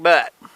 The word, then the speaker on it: Butt: out in there is called laughing jack butt better known as butte but they didn't spell it butte it's butt b-u-t-t so yeah we're just